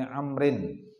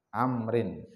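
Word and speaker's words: عمرو: hasan, an Abdullah ibni Amrin ibni As anna Nabiy sallallahu alaihi wasallam qala. Jadi Abdullah bin Amr, kalau ada waw itu bacanya memfathahkan ain, Amrin. Kalau tidak ada waw setelah huruf ra dibaca Umar.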